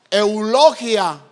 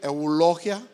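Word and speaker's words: εὐλογία: Entonces, fíjense bien, esta palabra bendición del griego, que se pronuncia eulogia. A ver, digan después de mí, eulogia. O sea, ¿usted está hablando qué? Un idioma griego. Y esta palabra eulogia significa, hermano, fíjense bien, pongan atención, un don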